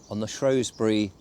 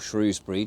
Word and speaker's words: Shrewsbury: and it was on the Shrewsbury, or Shrewsbury, depending on how you want to pronounce it, canal originally, but on the River Severn as well.